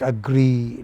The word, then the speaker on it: agree: position player agree You All these words, you know, we have which have two e's at the end, like agree, degree, payee. They take main stress on the final syllable, no matter whether they are noun or whatever.